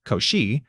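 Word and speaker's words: Cauchy: The foundation stayed rotten until the 1820s when Augustine Lewis Couchi pronounced Koshi laid down a modern derivative definition in his lectures at the polytenic school in Paris.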